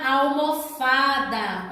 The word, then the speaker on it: almofada: Paroxítona, como a palavra almofada. Observe, almofada. Então, a sílaba mais forte é a penúltima.